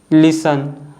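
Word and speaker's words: listen: और लास्ट वन है लिसन तो इन सभी वर्ड्स में आप देख सकते हो जो लेटर टी है एफ और एस के बाद आ रहा है और साइलेंट है बट इस रूल के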